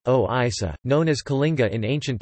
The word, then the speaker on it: ଓଡ଼ିଶା: The maritime history of Odisha, Odia, Orissa, Odia pronunciation, Oisa, known as Kalinga in ancient times, started before 350 BC according to early sources.